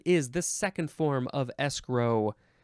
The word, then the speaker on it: escrow: the second form of escrow you can emphasize either syllable this is a transitive